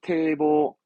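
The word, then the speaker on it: 堤防: 제자 발음은 태로 가서 태보. 뚝은 태보, 태보 합니다.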